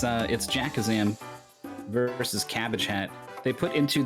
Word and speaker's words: Jakazam: I imagine that I pronounced that word horribly wrong. Adjacazaba, Jakabazam. Cabazam. The double B wants ABBA to appear in the middle. Jakabazam. Yeah, I think you got it.